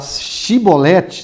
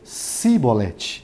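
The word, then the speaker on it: Shibboleth: palavra aí vem de falar shiboleth só porque eles falavam se volete OK tá escrito aqui vai círculos E então lhe dizia e depois chevrolets porém ele dizia sibolete é porque eu não podiam pronunciar assim bem então pegavam dele e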